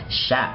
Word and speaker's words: chef: Một số chữ ch được đọc thành âm gì? Sh. Đó. Cái dấu này là cái dấu đó, đọc làm sh.